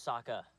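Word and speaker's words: Sokka: by herself my name's Saka rhymes with AA and waka waka does she looks very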